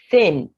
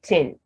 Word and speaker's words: thin: in their mother tongue they tend to replace with and what that means is that instead of saying a word as thin they would say tin and they are saying something else entirely once you mispronounce the